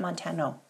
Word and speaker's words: Montano: It's like Montana, but Montano. Yes, there we go.